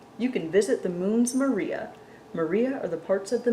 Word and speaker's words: maria: creating the Smooth Dark Maria we see today and you know what I pronounced that wrong it's Maria Maria the singular for Maria is May or mar mar I should have